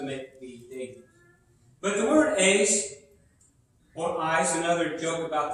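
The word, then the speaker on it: εἰς: corresponding preposition in greek some people pronounce it eyes i pronounce the ace i've had a little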